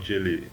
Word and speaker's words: Geely: Geely is pronounced the way you say G in OMG and not how you say G in the word Ghutra.